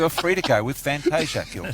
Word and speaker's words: Fantasia: It is pronounced Fantasia in Italy, and that's how they would pronounce it. Here in Australia, we are different, and we pronounce it the way we...